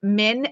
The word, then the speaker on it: Minh: This is from a really cool artist named Minh, M-I-N-H. Huyhn, I think is how you pronounce her last name.